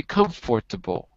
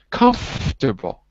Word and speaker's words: comfortable: word is important because english has words where we drop out a syllable and this is an example we don't say comfortable we say come from no no but we don't say that no listen to me comfortable comfortable comfortable that's it so the fort disappears but there's a whole